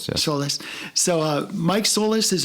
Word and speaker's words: Solis: So, Mike um why don't you Mike Sol is pronounced Solless, right? Solless. Solless.